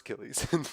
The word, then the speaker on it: Achilles: mythology who succeeded in killing a chalice it's pronounced Achilles in Greek mythology crap I even read the